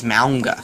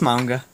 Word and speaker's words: manga: me that he knows this chick who pronounces manga as Mawnga. She doesn't pronounce it like that. She's saying I pronounce it like that. No, I'm upset. It's manga. No, it's manga.